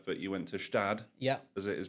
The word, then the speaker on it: Gstaad: And then you were not onto Gstaad, but you went to Gstaad. Yeah. As it is pronounced, as you have supposedly lambasted me twice for this morning already.